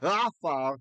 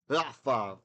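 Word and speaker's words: עפר: If the word starts with an ayin, and the ayin has a kametz, the ah sound under it, and that syllable is unaccented, it's unstressed. We don't say afar, we say afar, right?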